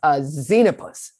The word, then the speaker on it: Xenopus: Okay, Xenopus. Is that right? Mm-hmm. That's a great word. Okay. Heckety peckety bumblebee, won't you say this word with me? Xenopus.